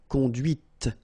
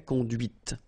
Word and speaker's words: conduite: And that's when you hear the difference between conduit, because remember, final T is not pronounced, conduit, here, and then the feminine, conduite. Okay, so here you can listen to this T, okay, conduite, right?